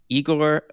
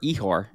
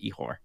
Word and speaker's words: Ihor: This is Arlene Babka, and of course, last but not least, in any way, Igor Stochek, or Ihor, I believe that is the correct pronunciation of it, Ihor.